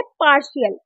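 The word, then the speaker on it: partial: होगा हमारा टी श जैसे की एग्जांपल है पार्शियल तो पार्शियल में क्या साउंड प्रोनाउंस हो रहा है टी का श पार्शियल का संधि विच्छेद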